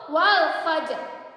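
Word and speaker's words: والفجر: Dibacanya tafkhim juga tebal, yaitu wal fajr.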